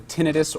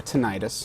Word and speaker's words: tinnitus: the ringing is called people call two different things either tinnitus or tinnitus tinnitus okay so regardless of